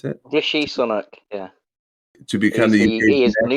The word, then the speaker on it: Rishi Sunak: Is that how you pronounce it? Rishi Sunak, yeah.